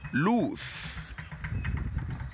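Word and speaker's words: l'ours: course letter O so we have the word loose loose loose and what is loose loose is a bear a be it is spelled o u r s with the apostrophe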